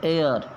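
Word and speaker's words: heir: भी आ चुका है एच ई आई आर यह हेयर नहीं है है इसमें साइलेंट है एयर तो एयर के हिसाब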